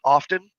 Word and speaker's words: often: know like words like often it's often the t is silent but people pronounce that